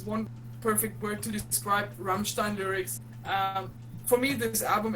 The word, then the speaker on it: Rammstein: here pronounced properly oh I love Rammstein no it's Rammstein nein Raphael you're number